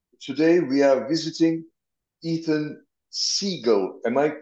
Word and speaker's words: Siegel: we are visiting Ethan Siegel am I pronouncing your last name correctly perfect that was perfect just like the bird uh you were a